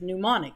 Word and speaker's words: mnemonic: really did start with them and really was pronounced mnemonic the ilm is totally solid you don't pronounce